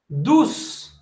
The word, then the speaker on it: douce: OU, ça prononce ou. Douce, douce.